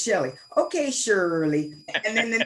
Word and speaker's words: Shelly: name Southern boy said okay shirely let me think about it and I would say it's Shelly okay Shirley and then